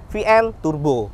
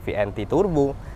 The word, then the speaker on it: VNT Turbo: ada vnt Turbo alas Bacanya jangan salah ya VN Turbo bukan vnt Turbo dan Ini tipenya tipe